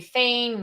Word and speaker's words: Fain: f-a-n-e I always say feign rhymes with pain but you know when